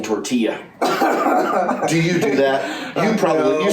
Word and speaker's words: tortilla: Taylor Swift makes music for people who pronounce the L's in tortilla.